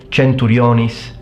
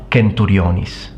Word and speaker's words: centurionis: And this leads us to our next point, the C, which in ecclesiastical Latin follows the same rules as Italian. When C is followed by I or E, it will be pronounced as a ch, whereas in classical Latin it's always pronounced as a k.